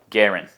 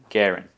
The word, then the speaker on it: g3urin: There is a three in my name. Probably throws you off. Garen. That's how you say my name. Garen.